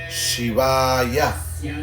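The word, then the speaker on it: शिवाय: Shiva, Shivaya, una doble A. Entonces podemos cantar Om Namo Shivaya. Aquí podemos ver que la A más larga es usada en este mantra para adorar.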